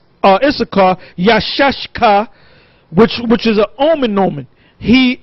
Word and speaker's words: Issachar: Now, the way to pronounce it is not Yashaka, is Yashashka. Yashashka.